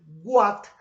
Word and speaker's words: what: Cada vez que nosotros vemos la letra W con la letra H, lo vamos a pronunciar como si fuera una J. O sea, nosotros no vamos a decir what, sino que debemos decir what.